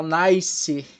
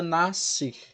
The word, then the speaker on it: nascer: Tu não fala nascer. Tu pronuncia nascer. Só o som de C, né?